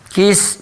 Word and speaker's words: Qais: Kisah Qais bin Sa'idah al-Iyadi. Qais ya. Bin Sa'idah al-Iyadi. Masih tokoh-tokoh Arab yang kita bahas. Coba baca. Sini. Nah. Baik, baca Qais bin Sa'idah al-Iyadi. Bacanya Qais ya, Rumesa baca.